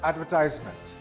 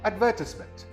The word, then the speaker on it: advertisement: This word is not advertisement. It is pronounced as advertisement. The second syllable is stressed again. Again, this word is advertisement.